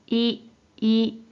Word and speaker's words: 威: 자, 이 한자 뜻으로는 발음이 없고 음으로만 い、い、 라고 발음해줘요.